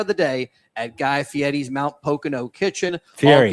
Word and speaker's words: Fieri: Grab a bold, flavorful bite any time of the day at Guy Fieri's Mount Pocono Kitchen. Fieri. All guests. Guy Fieri's. Fieri. Fieri? Oh, it's Fieri.